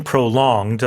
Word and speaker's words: prolonged: Well, let's have a look at the word prolonged. Yes. So, uh the pronunciation prolonged, the stress is on the second syllable.